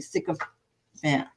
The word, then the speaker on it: sycophant: pronouncing it I mean you can pronounce it it's spelled SI of Fant but I'm just saying it's usually sick of Fant I whatever I'm saying it and it means